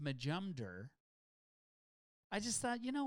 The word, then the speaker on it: Majumder: It's pronounced Majumder.